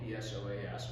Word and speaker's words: psoas: This is spelled P-S-O-A-S, we just say psoas.